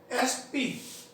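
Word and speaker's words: SP: इसी तरह से एस पी ए का प्रयोग है इसमें उच्चारण में, ही इज एन एस पी, जैसा होता है ही इज एन एम एल ए।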